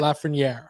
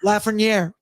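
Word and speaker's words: Lafrenière: Bread boy are Tammy Paneran with Mika Zabanaged and Alexi Lafren. Is that that's how you say his name, right? Lafrenier. Lafrenier.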